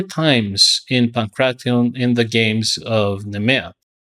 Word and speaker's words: Pankration: And it was pronounced Pancration and not Pagration, because the gamma kappa in modern Greek is pronounced like a G in English.